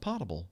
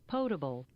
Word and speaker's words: potable: And speaking of truth, the way you pronounce the word Potable is not potable, it's potable.